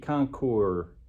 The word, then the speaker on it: Concours: Today we're going to start putting some new parts on this $250 Kawasaki Concours. I think you pronounce it Concours. But it has that S on there. It really messes us up.